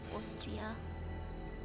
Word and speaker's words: Austria: Yeah, I never thought of the fact, like, Austria is pronounced with an O. Austria.